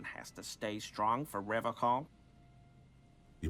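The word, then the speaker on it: Revachol: to stay strong for Revol he pronounces revon with a hard K unlike other people serious question time this man is no innocent no one is you said Revol I like to pronounce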